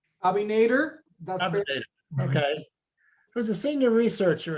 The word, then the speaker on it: Abinader: great presentation um by louise gill abanander is that how you pronounce the last bobby nader okay who's a senior